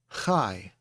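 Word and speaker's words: חי: Let's look at the word chai. We have a patak underneath the hay, so it has an A sound.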